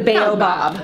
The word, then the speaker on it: baobab: Okay, we call this Bob. But the Bob is spelled B-A-B. So it's the Baobab.